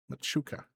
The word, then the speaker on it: Machuca: Machuca. Okay. Yeah, I see that. It is said like it's spelled. It's just I am stupid and can't read properly.